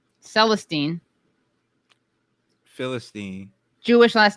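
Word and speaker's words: Célestin: I mean, I didn't take that much French, but I gotta say, it's Celestin because it's spelled at Celestin. Celestine would have an E at the end.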